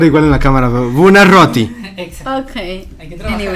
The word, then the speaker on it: Buonarroti: doble R, entonces sí tiene que sonar Buonarroti.